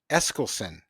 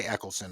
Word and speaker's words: Eskelsen: Most people say Eccleston, I know, but I see that S there, and I'm assuming that that's pronounced.